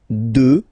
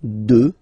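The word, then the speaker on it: deux: 2. Final X not pronounced, okay? 2.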